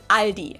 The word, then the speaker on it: Aldi: pronounce say aldi or they also sometimes add an s that isn't there in the end and say all these in germany we just say aldi it has its origin